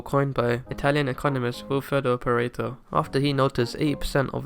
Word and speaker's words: Pareto: I mean, Pareto is the American way of saying it, and I'm British, so it's Pareto.